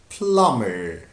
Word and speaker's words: plumber: Now we have the most important job, which is plumber, plumber, plumber. B here is silent, so we don't pronounce it.